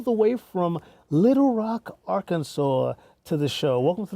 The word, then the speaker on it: Arkansas: But Arkansas, the S is silent.